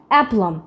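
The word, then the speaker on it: aplomb: beta যে আছে এই বিটা কিন্তু আমাদের জন্য সাইলেন্ট অ্যাপলম অ্যাপলম মানে কি আত্মবিশ্বাস এরপর আমাদের রয়েছে বম্ব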